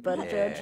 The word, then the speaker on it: Buttigieg: Matt Stoller called it is him, pronounced the missing Buttigieg, guy.